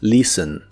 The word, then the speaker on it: listen: presente de inglés es listen. La T de esta palabra no se pronuncia y la E es muy suave.